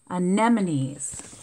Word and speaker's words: anemones: the loveliest reef creatures are the sea onion anemones anemones that was a hard word to say see how it has the word here anemones and then here it has the pronunciation anemones some are smaller no bigger than a grape